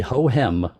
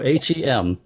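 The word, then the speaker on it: Hohem: love the name just as much it's the hoem h o h e m hem but yeah this this is this is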